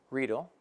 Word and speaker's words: Riedel: Again, Riedel Crystal. By the way, that's how you pronounce it, Riedel, not Riedel.